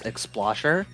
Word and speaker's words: Explosher: does it pronounced uh when you say xplosher in full it's explosher but when you abbreviate it it's just Expo and that will take